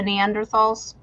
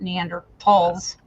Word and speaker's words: Neanderthals: if they existed the Neanderthals um supposed to not use the foot that the H is silent and we're supposed to say talls but we have a